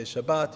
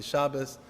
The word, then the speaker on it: Shabbos: many people see Shabbos I like to use the Ashkenazi trend pronunciation I'm used to growing up it's all the same you could say Shabbat you could say Shabbos whatever you like but I'm just gonna